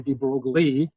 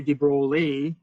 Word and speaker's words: de Broglie: what your professor is either a de Broglie and you pronounce everything in sight pronounce the out of everything or acknowledging that this guy is French you may go okay so I know there's some lettuce in there but you don't know which